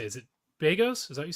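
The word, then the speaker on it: Begos: Is it Bagos? Is that what you said? Bagos, yeah.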